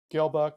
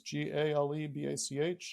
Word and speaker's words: Galebach: Galebach is Galebach. I always say for spelling and pronunciation, it's Gale like a gale force wind and Bach like a composer.